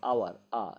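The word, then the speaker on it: hour: আচ্ছা, এছাড়াও এইচ এর উচ্চারণ অ অথবা আয়ের মতো হলে তার আগে অ্যান বসে, যেমন অ্যান আওয়ার, an honest man, right, ইত্যাদি শব্দের ক্ষেত্রে।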